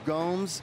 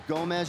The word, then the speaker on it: Gomes: make sure that we say his name Ronaldo Gomes he was referred to as Gomez yesterday apologize for that but Ronaldo Gomes is